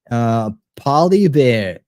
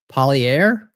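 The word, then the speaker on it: Poilievre: Polybeer is how it's said. Polybeer. Polyair, depending on your accent.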